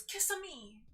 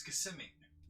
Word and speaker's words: Kissimmee: say it again kissimmee i always thought it was kiss on me no it's kissimmee oh i never like questioned that in my head it was just like kissing me like like italian like kiss me no uh everyone who